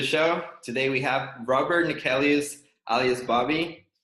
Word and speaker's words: Neckelius: Today we have Robert Neckelius, alias Bobby. How are you doing, man? Good, and I'm impressed with that pronunciation, man.